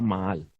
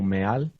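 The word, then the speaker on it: מעל: Es la palabra maal. Maal, prevaricar. También la puedes pronunciar como meal.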